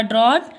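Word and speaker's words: drought: Okay, और ड्रॉट pronounce, इसको क्या पढ़ते हैं, ड्रॉट पढ़ते हैं। इसमें GST क्या होता है, साइलेंट होता है।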